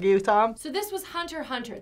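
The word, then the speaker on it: Hunter × Hunter: So this was Hunter Hunter. The X is actually not pronounced.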